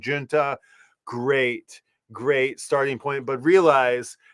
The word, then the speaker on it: Junta: Some people say Junta. Some people don't know how to say it. It's officially, I think, Junta.